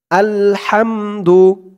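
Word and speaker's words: الحمد: সেগুলো ঠিক করে নিবেন আলহামদু আল হাম হাম বলা যাবে না বলতে হবে হাম গলার ভেতর থেকে আওয়াজটা চিকুন হয়ে বের হবে হাম আলহাম দু আলহামদু আলহামদু লিল্লাহি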